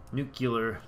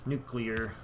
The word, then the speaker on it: nuclear: of power coming off the nuclear nucular nuclear how do you pronounce it let me know in the comments the end ageless argument of nucular or nuclear and I'm sure there is of course no argument cuz there's only one right way to say it